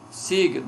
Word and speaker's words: signo: Signo, nós temos o izinho depois do G, do G, né?